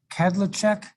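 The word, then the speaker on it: Kadlecek: today oh thank you your last name is pronounced cadlecheck padlock that's right yes all right so i got that slightly wrong and the cek is just like a ch yeah yeah and in check it's cek is usually pronounced check yes we'll see if i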